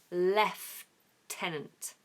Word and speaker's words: lieutenant: n a n t in America they say Lieutenant Lieutenant but in the UK in standard British English we say left tenant left with an F left tenant leftenant very confusing where does the F come from I don't know but that's what we say so there you have